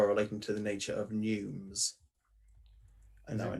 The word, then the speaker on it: neume: Neume. Neume. Okay. A neume note it's the or same group of notes pronunciation to be as sung pneumatic.